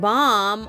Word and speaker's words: palm: her chap lips Miley puts a soothing B Palm on her chapped lips Palm p